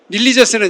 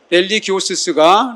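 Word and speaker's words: religiosus: 계신데요 이분은 호모 릴리저스 릴리저스는 약간 영어식으로 발음을 한 것 같아요 호모 랠리 기우스 랠리 기호수스 렐리 기오수스가 라틴어 그대로 발음입니다 호모는 무슨 뜻이냐면 인간은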